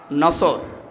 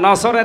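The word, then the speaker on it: نصر: এই জন্য যারা এই সূরাটা পড়তে গিয়ে সোয়াদ না বলে সিন দিয়ে উচ্চারণ করেন, আপনার কিন্তু নামাজ হবে না।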